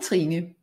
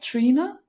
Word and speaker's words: Trine: I'm Trine. I'm Danish, and it's kind of awkward to pronounce for most people. It sounds like Trina, and that's perfectly fine. That's the easiest way for most people to pronounce it.